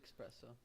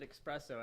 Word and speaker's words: espresso: way that's stupid yeah you pronounced it expresso i know right but we didn't do that live so now nobody understands what you're talking about he pronounces it espresso everybody shame him what